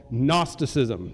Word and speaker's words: gnosticism: were facing is called gnosticism starts with a g it's a silent G there just to frustrate us and make our lives difficult gnosticism means knowledge